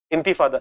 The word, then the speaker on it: Intifada: Intifada, it is the correct pronunciation, जैसे विवेक बताए, इंतिफादा है, ओके ओके।